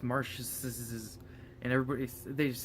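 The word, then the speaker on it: Marschz: I'll put his name right here so you can see how it's spelled. But it's Marsh's, and they just say fucking weird ones.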